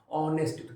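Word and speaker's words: honest: हम हिंदी में इसे प्रोनाउंस करना हिंदी में प्रोनाउंस करके क्या आएगा ऑनेस्ट क्या है ऑनेस्ट और क्या है एक वॉवेल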